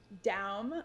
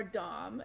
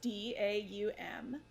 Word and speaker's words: Daum: So my last name is Daum or Dom. It's Daum. It's German.